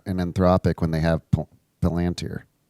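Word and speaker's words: Palantir: need OpenAI and and Enthropic when they have Palanteer? Because Palanteer doesn't actually have any true foundational models at the scale that grow. So, were they basically saying what model are we plugging into Palanteer?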